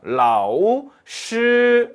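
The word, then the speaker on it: 老师: 그런데 정확하게 발음해 줄 앎 이렇게 해야 됩니다 라오 씰 이렇게 발음 해줘요 흠 뭔가 없애 카 잖아요 그럼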